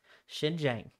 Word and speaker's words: Xinjiang: had a pronunciation thing up for how to pronounce that place xinjiang nailed it uh the second word is spelled